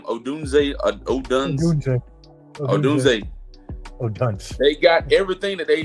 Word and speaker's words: Odunze: Odunze.